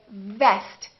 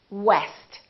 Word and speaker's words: vest: W so be careful don't round your lips so for example when you say vest make sure that it doesn't sound like West so vote is just a lower lip touching the upper teeth vest and what West